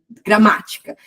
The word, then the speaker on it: gramática: a palavra, sei lá, a palavra gramática. Gramática, então é a antepenúltima, não é a primeira, porque a gente teve uma sílaba antes ali gramática, teve o gra antes, ok?